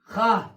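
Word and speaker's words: خواہ: अब यहाँ पे देखिए खवाह, लिखने का तरीका हुआ खवाह मगर पढ़ा जाएगा खाह।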